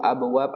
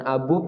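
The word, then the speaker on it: أبواب: ada tulisan seperti itu berarti bacanya bukan abub ya misalkan tidak dikasih harokat Jangan dibaca abug karena ada Alif setelah waw ya tulisannya sama seperti Abu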